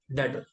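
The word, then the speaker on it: debtor: इसको बोल सकता हूँ डेटर, डेटर नहीं, डेटर, B silent, and डेटर हमारे लिए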